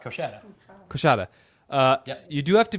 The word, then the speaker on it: Coushatta: Okay, it looks like that C kid, C O U S H A T T A. That's it. How do we pronounce that? Coushatta. Coushatta.